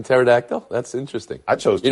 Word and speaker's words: pterodactyl: of dinosaurs boom bang you pronounce the P in pterodactyl that's interesting I chose